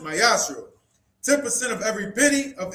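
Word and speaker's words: מעשר: Means tenth in Hebrew and is pronounced mayashro.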